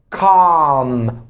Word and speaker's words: calm: Calm.